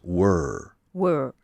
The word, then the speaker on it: were: okay and in English in American English were were yeah it rhymes with burn how do you say